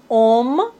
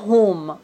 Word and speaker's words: homme: Dans la langue française, on ne prononce pas le H comme si ça n'existait pas du tout. Homme, hôpital, hôtel, véhicule. Vous voyez, on ne dit pas home, on ne prononce pas le H. On doit dire homme, hôtel, hôpital, véhicule. J'ai essayé de vous expliquer